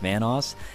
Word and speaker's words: Vanoss: new to this channel obviously my name is pronounced vanoss and if you guys screwed it up once